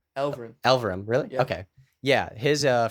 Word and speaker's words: Elverum: Elverum.